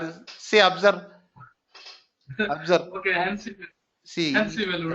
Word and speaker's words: ANSI: You say like Yancy, not SQL. What is? See, observe. Observe. Okay, ANSI. See, ANSI value, right? Today you are confusing me. ANSI.